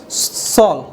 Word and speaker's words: shawl: AW साथ में है, जब AW साथ में रहेगा उच्चारण क्या होगा इसका, अ के रूप में होगा, इसी वजह से इसको क्या पढ़ेंगे हम लोग, सॉल।